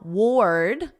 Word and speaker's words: ward: Now, ward, this is like the past simple of the verb wear. Yesterday, I wore a sweater, and then you just put a very soft D. Ward, ord, ward.